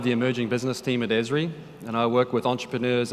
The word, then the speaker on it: Esri: of you may not know our company it's pronounced esri we're a location and mapping company we were actually founded in 1969.